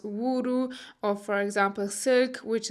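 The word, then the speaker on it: ウール: find katakana for wool, for example, which is pronounced wuru, or for example silk, which is pronounced shiruku.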